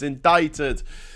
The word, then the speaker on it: indicted: It's indicted. It's spelled indicted, but it's pronounced indicted.